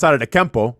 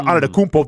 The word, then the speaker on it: Antetokounmpo: I mean, it took me a good 5 years to pronounce Giannis Antetokounmpo or Antetokounmpo, depending with the dialect.